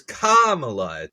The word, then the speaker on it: Kamala: of Kamala Khan but hers hers is Kamala the the emphasis is on the the first syllable here I thought I